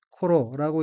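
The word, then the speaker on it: 頃: 넷째 줄 첫 번째 어휘는 한자가 일한 경자이고 일본어로는 코로라고 읽으며 코로는 때, 경, 시절, 무렵, 쯤이란 의미입니다.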